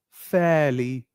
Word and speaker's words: fairly: Fairly likely as well R is silent fairly we do not say